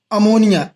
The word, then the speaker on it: ammine: पहला example अमोनिया NH3, इसका नाम क्या होगा, अमीन।